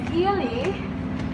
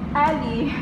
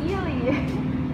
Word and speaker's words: Ayala: This is, guys, I mean guys, the name of the restaurant is Ayala. Actually, I pronounced it Ali before.